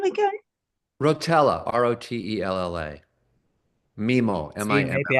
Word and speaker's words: Rotella: Rotella.